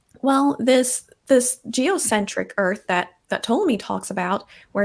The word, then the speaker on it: Ptolemy: Oh, the P is silent. Yeah, I don't even. I don't really know much about Ptolemy.